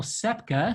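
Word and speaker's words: Ksepka: colleague at the bruce museum in connecticut daniel sepka sepka is spelled k-s-e-p-k-a um he goes by dan and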